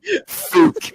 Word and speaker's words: Fuck: Oh, Mr. and Mrs. Fuck, your table's right here. It's pronounced Fook.